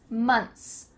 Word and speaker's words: months: Months, months.